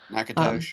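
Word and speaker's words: Natchitoches: comment and and nakos it's called naos nakos that's how they say it uh which doesn't make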